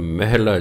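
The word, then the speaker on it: ਮਹਲਾ: उंज व्याकरण अनुसार का उच्चारण महला चाहिए।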